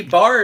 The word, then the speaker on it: bear: Yeah, but see, bar is how you say bear in Kentucky.